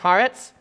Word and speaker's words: Haaretz: of the article from i think it's pronounced haaretz h-a-a-r-e-t-z the title of their